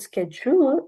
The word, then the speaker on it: schedule: and schedule over here you can say word schedule SKU skule schedule but how we speak it schedule it only has two syllable and SK yes the first sound takes the primary stress correct now we have